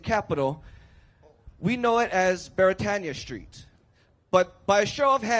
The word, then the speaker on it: Beretania: But Beretania is actually a Hawaiian word, and being a Hawaiian word, it is pronounced properly as Beretania.